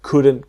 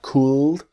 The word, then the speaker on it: could: the same same situation the L is silent so it's not cooled but could practice me